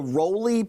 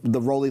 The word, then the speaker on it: Roli: Or if you want to get back into it, it's called the Roli Piano System. That's spelled R-O-L-I, and it's not an 88-key keyboard.